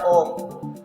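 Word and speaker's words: ॐ: the beginning there was om om is defined as the cosmic sound it is made with three syllables a o and m you can you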